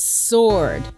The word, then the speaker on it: sword: a kid and that's sword why isn't it sword s-o-r-d why the extra w i spent my entire